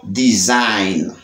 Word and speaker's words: design: Dans le mot design, ouais, design, G a pas prononcé. G a silent.